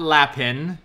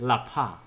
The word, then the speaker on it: lapin: This is not Lapin. You spell it like Lapin, but you pronounce it Lapa.